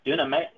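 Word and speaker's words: δύναμις: 19, we have an example of exousia and dunamis. I think, how do you pronounce that?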